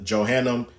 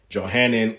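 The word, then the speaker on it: Johannine: It's called, Salakia, I mispronounced it. It's actually called the Johannan comma.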